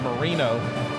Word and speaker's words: Marino: Malachi, is it Moreno? Is that how you say it, or it's Moreno? Right? Marino, tomato. Yeah. Well, I think he came out and had to clarify it this year. It said Marino, so I think it's Moreno.